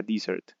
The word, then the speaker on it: dessert: este caso recordemos que si decimos Desert o Desert es desierto y para poder decir eh postre debemos cambiar la pronunciación en este caso sería Desert listo Tenemos también follow